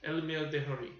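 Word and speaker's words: Elmyr de Hory: Elmir Dehory.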